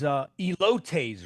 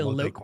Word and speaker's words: elote: What's the correct? Elote. Elote. Yeah.